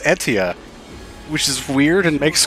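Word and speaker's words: Aetia: in between sessions is that it's not actually pronounced asia in the asia region it's actually pronounced etia which is weird and makes completely no sense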